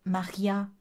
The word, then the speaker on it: Mardja: qu'elle s'appelle mardja alors c'est maria en prononciation néerlandaise mais ça s'écrit mardja j'avais jamais fait le rapprochement